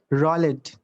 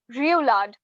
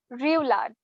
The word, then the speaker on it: roulade: Rollet. No, that's not the correct pronunciation. It's roulade. I repeat, it's roulade.